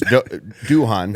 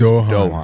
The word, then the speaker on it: Duhan: Because you know because you know his Instagram is it's Duhan. But when you ask him his the actual pronunciation is Dohan.